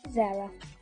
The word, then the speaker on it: Zara: My name is Zara, and it's pronounced Zara.